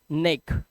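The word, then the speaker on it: neck: आप देखिए ECK अगर किसी वर्ड के लास्ट में हो तो इस ई का उच्चारण क्या होगा? आपको लग रहा है ई होगा, नहीं, इसका उच्चारण होगा ए। क्या होगा? ए की मात्रा। तो ए और क, एक। जैसे एन से बना ना, तो ये हो गया नेक।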